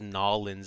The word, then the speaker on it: New Orleans: they call it nollins people pronounce new orleans as nollins all the time i have wondered why